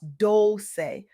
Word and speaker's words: Dolce: I'm your host, Dolce, pronounced dol-chay, like sweet softness whispered in French, and